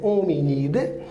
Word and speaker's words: Hominidae: família é um unida se escreve hominidae mas é unida a ordem primata nós